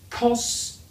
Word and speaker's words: cost: Here we can say o, ko, kos, kost, kost. Pronounce the T, all right? Don't forget that.